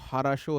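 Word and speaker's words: Kharasch: था नाम की करंट करेक्ट प्रोनंसिएशन जो है वह हारा शो है ठीक है एम एस हारा शो के साइलेंट होता है इसमें हरा शो पढ़ते हैं वो रशियन लैंग्वेज में ठीक है एनीवेज आप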